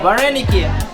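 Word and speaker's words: вареники: You know how it's pronounced in Ukraine? How do you say it? Vareniki.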